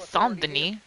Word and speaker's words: Saint-Denis: I appreciate that he said Saint-Denis, because it would be a French pronunciation, right?